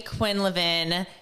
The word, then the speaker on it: Quinlivan: __ ] excited to have my girl Quinn Levin here with me today I said your last